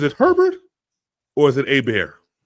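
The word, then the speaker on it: Hebert: If there's an R after the E, it's Herbert. But if there's no R, then it's A-Bear.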